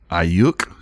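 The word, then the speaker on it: Aiyuk: peterson uh desean jackson's on the board brandon ayuk is how you say it yeah you for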